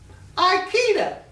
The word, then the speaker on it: Ikeda: Ikeda, just like the furniture.